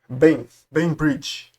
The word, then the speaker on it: Bainbridge: O espectógrafo de massa de brain bridge se pronuncia Bin Bridge é um campo elétrico uniforme e vocês devem chamar de E aí no Sudeste, né?